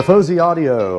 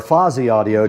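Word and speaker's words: Fosi Audio: The Fuzzy Audio or Fozy Audio depending on how you like to pronounce it is sitting right in front of me here.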